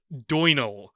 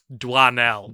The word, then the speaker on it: Doinel: patrons The Adventures of Antoine duino or as we soon found out duanel because of course it's Dua now Antoine has oi in it and we pronounce that fine we get to doynell